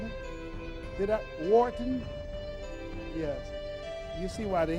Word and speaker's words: Wharton: He has an MBA from Walton. Am I pronouncing it? Wharton?